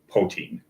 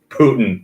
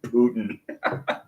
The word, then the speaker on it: Poitín: Putin. Yes. That's how you pronounce it. It's just Putin.